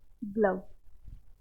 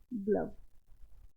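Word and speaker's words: glove: ठीक है वन और ग्लव इसको कुछ लोग ग्लो बोल देंगे प्रोनाउंस क्या बोलेंगे इसको ग्लव ठीक है आई होप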